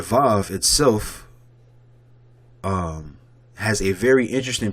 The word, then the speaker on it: Vav: Most scholars agree that the ancient pronunciation of the letter was more like a W and less like the V. So when you go back here, instead of it saying Va, it would say Wa.